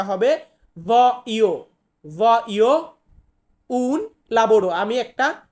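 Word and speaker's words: voglio: অি এল এ অ এখানে আমরা কিন্তু এল এর উচ্চারণটা করবো না যার কারণে এটা ভলিও হবে না সঠিক উচ্চারণটা হবে ভই ভই উন লাবড়ো আমি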